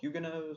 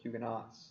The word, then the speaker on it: Huguenots: France French Protestants called Hyuga knows or Huguenots I've seen it pronounced either way fought French Catholics in